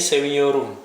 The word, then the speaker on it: seviyorum: Bahasa Turkinya aku mencintaimu itu seni seviyorum. Seni seviyorum. Tulisannya Seviyorum itu tulisnya pakai V ya, karena di bahasa Turki itu nggak ada huruf W, pakainya V.